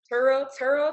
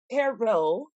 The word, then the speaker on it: Terrell: You gotta say Turl so you know it's real. That's how you know if you're from Texas or not. If you say Terrell, they be like, you're not from here. You don't know how to say it.